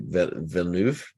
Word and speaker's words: Villeneuve: Look at Denis I never pronounced his name right. Villeneuve.